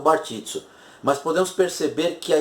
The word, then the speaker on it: Bartitsu: Nós podemos levar algumas coisas em consideração, como a própria pronúncia do termo Bartitsu em inglês, que soa algo como Bartitsu.